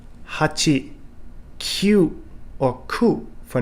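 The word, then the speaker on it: 九: For example, number 4, shi instead of yon. Sichi for number 7 instead of nana. And kyu for number 9 instead of ku.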